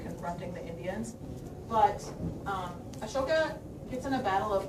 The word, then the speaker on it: Ashoka: So, Ashoka, which is also spelled A S O K A, but I picked this one because it makes you pronounce it right.